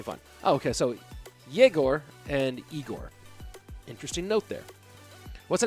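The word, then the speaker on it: Игорь: igor and igor uh the pronunciation of of of igor is sounds like jagor and i with an i sounds like igor just to let you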